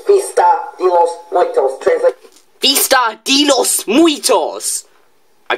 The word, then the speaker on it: Fiesta de los Muertos: Fiesta de los Muertos. It's Fiesta de los Muertos. Okay. I am sorry for my bad pronunciation.